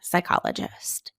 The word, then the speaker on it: psychologist: which constant is pronounced in the PS sound spelling pattern psyche pseudonym psychologist we only hear we only pronounce the s in that nice work let's